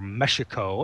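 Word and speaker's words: México: I'm broadcasting to you live, more or less, from the Rio Palace, Las Americas, in Cancun, Mexico, or Mexico, as it might properly be pronounced.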